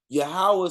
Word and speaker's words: Yahweh: this, we talking about the same God, but Yahweh say seek his face.